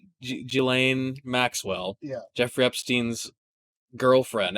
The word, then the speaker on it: Ghislaine: We'll say Ghislaine Maxwell. Yeah. Jeffrey Epstein's girlfriend, ex-girlfriend. Oh, like, Ghislaine. It's pronounced not how it's spelled.